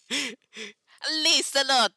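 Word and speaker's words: Lieselotte: Siegwald, can hear them talking about his fiancée, the villainess Laessi Lot. Say it right. Lisa Lotte, yay! Okay. Well, technically that is right. It's just with an Italian accent.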